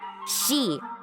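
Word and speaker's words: 四: One of the most famous is the number 4, which in Japan is pronounced shi. Shi is also the pronunciation of the kanji for death, which is why they generally try to avoid it in a whole bunch of ways.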